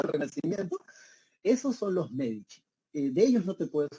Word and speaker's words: Medici: el Duce, en italiano, cuando tú veas la letra C, esta C se pronuncia como che. Entonces, por eso se pronuncia los Medici, ¿bien?